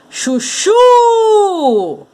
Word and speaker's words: chuchu: Então, ó, chuchu! A sílaba tônica é a última aqui, ó.